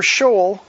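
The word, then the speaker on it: Sheol: their form shall be for shaw to continue or shale as some pronounce it.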